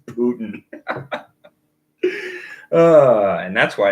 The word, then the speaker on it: Poitín: Putin. Yes. That's how you pronounce it. It's just Putin.